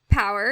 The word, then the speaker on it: PWR: so you now have power is that how you say it Power pwr okay so power um and it's spelled pwr and that stands for